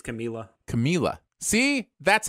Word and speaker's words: Camila: tonight show or something and she's like it's camila like she pronounces it yeah so yeah no and that